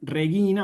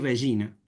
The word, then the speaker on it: regina: Entonces, como bien decía Elena, en vez de decir reguina, vamos a decir regina.